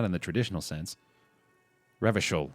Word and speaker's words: Revachol: There aren't any cops in Revical. Not in the traditional sense. Revachol, I think is how you say that. I keep misspelling it or missaying it.